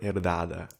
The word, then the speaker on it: herdada: And you would know it listening to audio podcast buts with H. Silent H in Portuguese. Herdada. I'm always tempted to pronounce the H to give an extra little breath there.